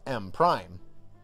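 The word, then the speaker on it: M′: expanded sum of money m1 pronounced M prime not simply MCM but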